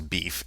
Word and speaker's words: BeEF: So the next thing that we want to talk about here is what's referred to as beef, and it's spelled B-E, capital E-F, and if you were